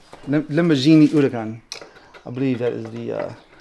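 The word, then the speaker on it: Huracán: And it's not a Huracan, it's Huracan. Lamborghini Huracan.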